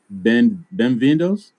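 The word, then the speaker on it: bem-vindo: Shall we say benvindos? Am I saying it right? Benvindo. That's correct. Benvindo, yes.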